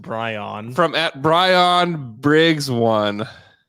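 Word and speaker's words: Bryn: has the oh Brian yeah that's how it's pronounced Brian from at Brian Briggs one it's BR r y n it's you'd still say Brian though oh yeah Bri Bri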